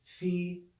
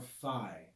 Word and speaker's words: phi: very uncommon today and normally we say fee or phi okay in order to